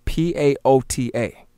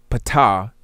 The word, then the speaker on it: paota: This is why I said pata, properly paota, is called the creator of all things, because the atom creates all things. This is why paota, as I said, the